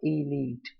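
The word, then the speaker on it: elite: देखिए, ये आपको पता है एलियट है, गलत है। ये ऑलाइट है, अलाइट है ना, इलिसाइट, ये दोनों ही, तीनों ही गलत है। इलीट का ये जो प्रोनाउंसिएशन है वो ये रहा, इलीट।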